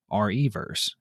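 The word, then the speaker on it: Re:Verse: and finally capcom revealed resident evil reverse is how they pronounced it a multiplayer game that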